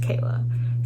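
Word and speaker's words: Chaella: My name is Michaela. Therefore, take the ma out. It's spelled just like my name, but take the ma, M-I, and meh, whatever. Take that out, and it's just Kayla. So that's the Kayla part.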